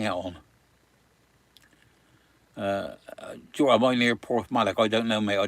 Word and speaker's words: Porthmadog: Am I near Porthmadog? I don't know, mate. I don't know where Porthmadog is.